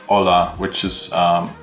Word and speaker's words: hola: word would be like hola which is um spell that holla h-o-l-l-a but um you would say hola so the h is silent so if you're an